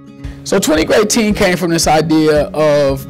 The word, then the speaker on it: GREATEEN: So 20 GREATEEN is like great rhymes with eight.